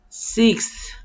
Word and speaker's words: sixth: Fourth, fifth, fifth, sixth, sixth. Yeah, this is a challenge, but you can do it. Sixth, you pronounce the X and then the TH, sixth.